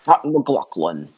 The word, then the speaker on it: McLaughlin: win what was that you have to say his name mclaughlin you have to put some emphasis in it yeah so like i